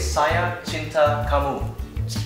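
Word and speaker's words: saya cinta kamu: And if you want to say I love you is sia chinta kamu. Shia chinta kamu.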